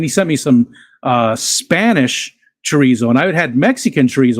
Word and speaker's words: chorizo: But I had never had Spanish chorizo, and it was good, very good. Pedant warning: chorizo. Chorizo. Chorizo. With how they pronounce it. That must be the Spanish version, because the Mexican version, yeah.